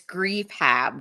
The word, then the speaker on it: Griefhab: And it's Griefhab, right?